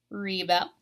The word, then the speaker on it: rebel: object and rebel okay so Reba you're stressing the last syllable and also if you rebelled against something then you are doing an action it's a verb so it would go